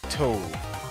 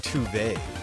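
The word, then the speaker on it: Tove: Toad. Or, so friends have told me, her name is actually pronounced Tuve.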